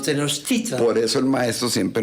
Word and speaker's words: Tenochtitlan: En náhuatl todas las palabras son graves, es decir, las graves son las que llevan el acento en la penúltima. Por eso sí. no es Tenochtitlán, sino Tenochtitlan.